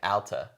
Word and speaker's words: Alta: It's pronounced like altitude, Alta.